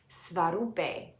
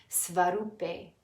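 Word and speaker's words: svarūpe: The flat line lengthens the oo sound, and the E is pronounced a. Svarupe, then, means characteristic, one's own essential form. Svarupe, svarupe, svarupe.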